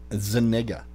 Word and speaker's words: Zuniga: Zuniga. That's how it's pronounced.